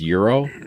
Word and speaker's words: gyro: right that gyro gyro so it's Euro like the money okay no whatever well